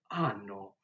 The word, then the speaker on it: hanno: You might have noticed that I'm not pronouncing the H when it's at the beginning of the word. And so the H is essentially dropped when we pronounce it at the beginning of the words.